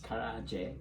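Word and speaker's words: 唐揚げ: Karaage. Karaage. So just so you, the actual correct pronunciation is Karaage.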